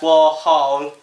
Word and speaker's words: Warhol: And then David was like, actually, it's pronounced Warhol. As in holes.